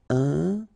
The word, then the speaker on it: important: So final T not pronounced. And then remember, you've got this EM, and after that it's a consonant, so it is here nasal. Important.